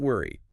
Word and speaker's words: worry: The text guides us to say worry. Worry. The O sounds like a U. It is a very round, soft sound in the mouth.